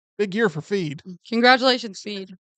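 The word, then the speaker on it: Feid: year for feed congratulations feed that's how we pronounce feed is a Columbian singer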